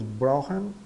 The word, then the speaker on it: brauche: Aqui, esse CH aqui soa como R, dois R's de carro, e I soa ein, tá? Aqui, esse CH soa também como dois R's de carro, tá? Então, ich brauche ein Bett.